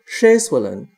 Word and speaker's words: uo'aXy'an: Pitch is very important, and there are long and short vowel distinctions. For example, in the greeting word uo'aXy'an, the first syllable has a long A sound, and it's at a higher pitch than the rest of the word.